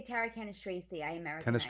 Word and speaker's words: Cannistraci: They say Tara Cannistraci. I Americanize it. Cannistraci. Okay. All right. Yeah. But Cannistraci, because CI in Italian, there's no H in there. The H is silent.